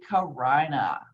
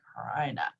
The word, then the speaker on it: carina: And this piece of cartilage is called the carina, okay? Yes, I know if it was a girl's name, you'd say it differently, but this is how it's pronounced in anatomy, the carina.